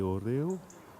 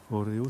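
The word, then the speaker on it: hórreo: a ri nahd et oreo oreo ça s'écrit h aux deux r e au pas comme les gâteaux à regarder c'est envoyer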